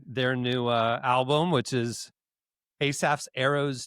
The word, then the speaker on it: Asaph: name on the rundown, Asaph's Arrows, I got nervous. It's like Aesop Rocky, and I'm saying it wrong. Am I saying it correctly? Asaph? Is that It's the Asaph, biblical pronunciation?